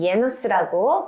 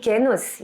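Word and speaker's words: γένος: 자, 이런 유, 이거 지금 보이시는 저 헬라어 단어 읽으시면은 투토토게노스라고 읽거나 이제 요즘에는 예노스라고 발음을 해서 읽는데 이 게노스, 예노스라는 말 뭐냐면 종류, 부류를 얘기해요.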